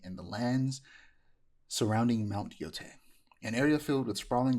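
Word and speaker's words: Yōtei: It's pronounced Yotei. Okay. See, I keep saying, Yep. I said, my first thought, I read a lot of manga, watch a lot of anime. You see an EI, it's A. It's A.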